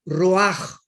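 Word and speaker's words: רוח: Roach con ch porque la ch en el hebreo se pronuncia como J raj entonces etimológicamente la raíz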